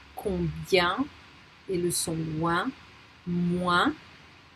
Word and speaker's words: moins: Canadien, combien, et le son loin, moins, that my colleague pronounced moins because she's from the southwest of France, et soin.